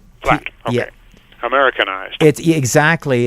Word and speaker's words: Platte: How do you pronounce it, by the way? Is it Ville Platte or Ville Platte? It's Platte. Platte.